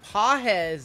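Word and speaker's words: Pagés: all right let's do the next few Andy pz is how you say that name I just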